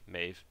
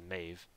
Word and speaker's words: Maeve: this pretty much useless I always say Maeve made I call him that sometimes I believe the pronet proper pronunciation is Maeve not that I care